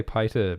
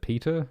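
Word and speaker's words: Piter: more about pronunciation um so you could say pie to peter i guess like pie to devries python peter um and cheney you could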